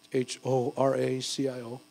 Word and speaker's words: Horacio: So if you want to make a check, it's H-O-R-A-C-I-O. It's Horacio. Don't pronounce the H in Spanish.